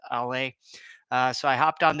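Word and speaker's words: Allez: Actually, I called it Alles for years until I figured out that it's actually pronounced AL.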